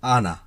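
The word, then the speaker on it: أنا: উচ্চারণটা হবে আনা, আনানা, আনা।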